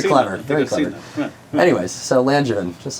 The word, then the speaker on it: Langevin: the way it is Lanjin, not Langavven or Langavven. Yeah, it's a soft G like orange.